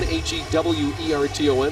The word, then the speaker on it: Hewerton: His name's spelled Hewerton, H-E-W-E-R-T-O-N, but pronounced Hewerton.